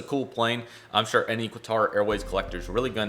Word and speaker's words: Qatar: to enjoy this um not even to try to say it how uh everybody else does because that's the proper pronunciation but i don't it's like uh cutter yeah that was kind of that was kind of it um qatar qatar something like that you guys know who